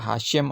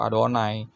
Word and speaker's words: YHWH: Nah, YHWH ini kalau dibaca oleh orang Yahudi yang tidak terima Yesus, dibaca Hashem atau Adonai.